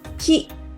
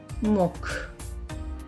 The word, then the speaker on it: 木: Ki. Kunyomi. Onyomi is moku.